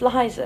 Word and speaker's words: Liza: Yeah, it's Liza. Liza with a Z.